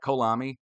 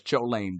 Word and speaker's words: Cholame: Is that Kolami? Sorry. It's Kolami, John. I say, my name's Blaine. I drive my Beamer. I live in Kolami, California. Right? No, it's Cholame, dog.